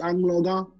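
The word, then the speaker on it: Anloga: It's Angloga. But Angola. I know people will pronounce it Angola. If you say Angola, you're still referring to Africa.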